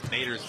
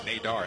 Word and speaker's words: Nader: I've heard a lot of people pronouncing Nader's name Nadar, haven't you, this week? I've heard it different. Yeah. But he says it Nader, though. When I've spoken to coaches, they've always called him Nader.